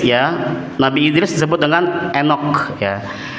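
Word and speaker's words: Enoch: Maka ketika ketemu dengan nama Enok ya.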